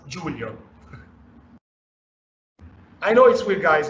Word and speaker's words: Giulio: my name is Julia I'm Italian so my name is pronounced Julia I know it sweet